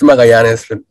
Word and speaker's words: Magallanes: forgive me if I do say your last name wrong, Magallanes? It's Magallanes.